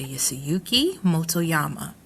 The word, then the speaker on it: Yasuyuki Motoyama: Yasuyuki Motoyama. Please correct me if I'm not pronouncing this correctly.